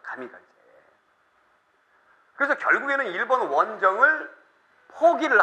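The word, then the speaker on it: 神風: 이거를 일본 애들이 뭐라고 읽냐면은 가미가제라고 하는 거예요. 가미가제.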